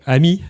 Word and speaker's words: ami: So um I prefer to use the the phrase AMI which means advanced machine intelligence or AMI. Um if you pronounce it in French that means friend in French I think it's more appropriate.